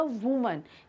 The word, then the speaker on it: woman: इसके अलावा अगर हम सिर्फ एक महिला की बात कर रहे हैं तो वो हो जाएगा वुमन। यहाँ पर देखिए ए आ रहा है, WOMAN, तो वुमन।